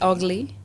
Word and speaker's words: VGLY: se podría pronunciar pero se pronuncia así como feo en inglés Google qué significa el